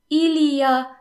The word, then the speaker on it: il y a: Il y a, which means there is or there are, is often pronounced ya. In fact, it's rarely pronounced il y a. Most people would just say ya.